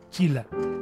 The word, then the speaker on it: Sheila: Hemos hecho casi un tratado sobre los nombres aquí a propósito de que se escribe Sheila y se pronuncia Chila.